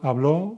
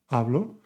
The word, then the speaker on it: hablo: The underlying part is the stress syllable. It's not «habló» o «hablás» o «hablá», es «hablo, hablas, habla, hablamos, habláis, hablan».